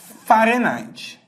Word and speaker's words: Fahrenheit: escala Kelvin e a escala Farenheit que se escreve Fahrenheit Ok ó Celsius Kelvin